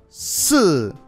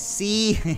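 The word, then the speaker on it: 四: Si. Cuidado, no es si. Ya les dije. Con la S, la I no se pronuncia como nuestra S en español. Es si. Si.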